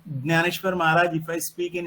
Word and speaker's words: ज्ञानेश्वर: हम हिंदी में ज्ञान बोलते हैं, मराठी में ज्ञान बोलते हैं। तो वो ज्ञानेश्वर महाराज, if I speak in Marathi I will say ज्ञानेश्वर Maharaj, if I speak in Hindi I will say ज्ञानेश्वर Maharaj.